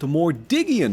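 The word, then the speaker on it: Mordiggian: It is pronounced Mordigian.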